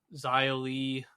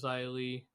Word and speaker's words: Xia Li: And then Raquel and Shotzi defeated Sonya Deville and Xia Li. Isn't that how you say it? Isn't it Xia Li?